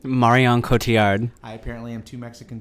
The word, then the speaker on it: Marion Cotillard: How do you pronounce her name? Marion Cotillard.